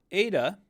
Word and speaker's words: eta: n with some extra this is a long e sound Ada a long e so it's similar to the Epsilon and it's that e sound but while the Epsilon is a short e the Ada is a long e so you're going to want to give it that extra length here coming down the